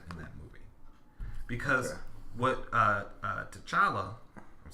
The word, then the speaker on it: T'Challa: That was the comparison that I felt when I watched the movie was like, T'Challa was very much MLK and Killmonger was very much Malcolm X.